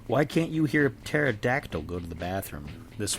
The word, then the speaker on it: pterodactyl: Why can't you hear a pterodactyl go to the bathroom? This one's might be making the kids gonna snicker a little bit. Because the P is silent.